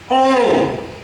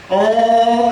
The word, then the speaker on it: ओम: ओम कहते हैं मुंह खुला हुआ रहता है। जीभ से इसका उच्चारण होता है। ये तीन मात्रा है। मात्रा है तीन मात्रा है। तीन अक्षर का तीन मात्रा है। ओ में मुंह खुलता है। जीवा से उच्चारण हो गया है। म में धीरे धीरे आकर दोनों होठ कट जाता है। यही है ओम उच्चारण करने का नियम।